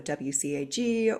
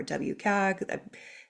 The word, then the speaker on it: WCAG: Web Content Accessibility Guidelines, so WCAG or WCAG. There are a few different ways I've heard their particular acronym pronounced.